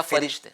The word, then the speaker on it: फ़रिश्ते: फरिश्ते लफ्ज़ फ़रिश्ते या फ़रिश्ते? फरिश्ते यानी असल में फ़े के नीचे ज़ेर है, जी फ़रिश्ते।